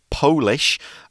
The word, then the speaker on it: Polish: more serious a note there um we say polish and that means it is from the country